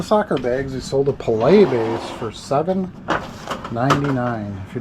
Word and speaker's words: Pelé: Most people say Pele. It's Pelé is how it's pronounced, but yeah, very, very important.